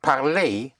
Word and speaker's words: parler: When you have an ER, then ER is pronounced A. Like parler is to speak.